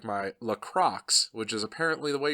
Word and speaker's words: LaCroix: lock rocks not from Lacroix which is like a French pronunciation of the same word I realize it as a French word but apparently the locals call it lock rocks and since it's from